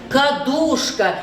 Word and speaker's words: кадушка: На второй слог падает ударение.